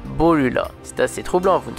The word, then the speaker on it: Borula: Or, en japonais, le R se prononce L, donc Borula.